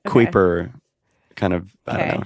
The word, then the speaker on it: Kuiper: It's Kuiper. Sounded like it could be Cooper, but got it. Okay. Kuiper kind of, I don't know, just seems like the right thing.